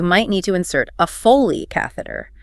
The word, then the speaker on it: Foley: To monitor their fluid balance accurately, you might need to insert a Foley catheter.